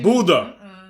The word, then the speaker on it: Buda: exactly what i did it's pronounced buddha you're you're working uh